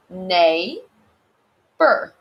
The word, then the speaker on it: neighbor: trick you neighbor so in neighbor we have a silent gh nay bur so be careful with